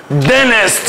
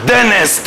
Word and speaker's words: dentist: دنست. شفت يوسف الشاطر قال ايه؟ قال لي فاكر لما انا قلت ان الان لما يجي بعدها تي ينفع اخلي التي سايلنت فاقول دنست.